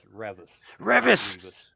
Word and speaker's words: Revis: When I sent you that logo, because I sent you a message that my name's pronounced Revvis.